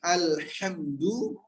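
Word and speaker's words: الحمد: Sehingga baca alhamdu, lam dan mim sama. Lam dan mim posisinya sama. Yaitu posisi mengalir sedikit. Nggak boleh alhamdu salah. Nggak boleh alhamdu salah. Tapi alhamdu. Nah-nya keluar bukan alhamdu.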